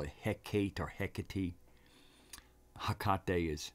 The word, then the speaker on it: Hecate: Hecate is how I was told to hear it, to pronounce it.